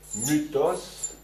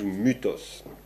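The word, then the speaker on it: μῦθος: myth en français hein le le y ce qu'on appelle le y c'est en fait ça se prononce u en grec donc on dit Mutos Diotima c'est un personnage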